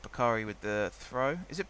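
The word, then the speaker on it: Bukayo Saka: as well all right bakari with the throw is it bakari or bakery i'm gonna say bakari like bukhari saka or is it back no it's bakery sakura isn't it potato potato i don't think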